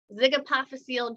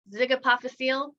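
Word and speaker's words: zygapophyseal: this first one so that's pronounced zig apophyseal joint zig-apophasial also known as a v-joint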